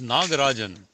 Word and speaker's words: Nagarajan: good down you go Naga Arjun that's the right pronunciation sorry about that 18 okay okay good okay no it's nagarajan I'm sorry once again I stand corrected Arun nagan that's the correct pronunciation finally okay down okay hold on